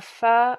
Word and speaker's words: pho: It is A Pho Love Story.